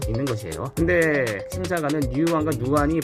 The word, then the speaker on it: 누안: 근데 이제 이 상표가 NUAN, 이거 어떻게 읽어야 될까요? 누안 정도로 읽는 게 맞겠죠.